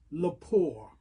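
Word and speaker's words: Lepore: Her name is Jill Leapour.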